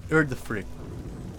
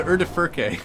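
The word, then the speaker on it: Udyrfrykte: Yeah, the Urdafrict. Yeah, I called it the Urdafurke. Yes, that's exactly what I called it. Let's talk to Nell. But no, it's the Urdafrict.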